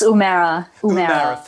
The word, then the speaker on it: Humera: and forgive me humera i hope i have pronounced your first name correctly there it's umera thank you ali morning